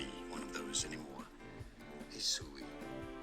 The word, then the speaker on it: Hisui: Hisui. Hisui is how this region is to be said.